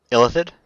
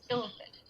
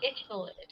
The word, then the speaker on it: illithid: I have not seen, so it's illithid. Illithid, yep. I-L-L. Illithid. Now, I don't know if it's actually pronounced illithid, because that would work also. But it would not be ithilid. It would not be ithilid. Because that puts the TH before everything.